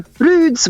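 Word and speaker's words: Bryde's: resident whale is the Broods whale or the brides whale spelled Brides but it's they said they pronounce it Broods well and was a done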